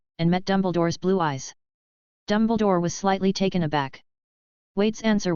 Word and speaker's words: Dumbledore: Wade purposely mispronounced Dumbledore<unk>s name because Mrs. Cole had made the same mistake when she introduced him earlier. Dumbledore helplessly corrected him. Actually, my name is Dumbledore. Albus Dumbledore.